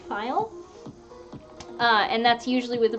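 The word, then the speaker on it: faille: from various things there's fabrics called a file which is spelled FA il le file and that's usually with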